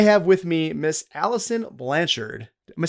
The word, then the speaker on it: Blanchard: I have with me Miss Alison Blanchard. Am I saying it right? Blanchard?